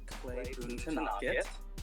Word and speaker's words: Boonthanakit: I'm Boonthanakit. That is how you pronounce that last name.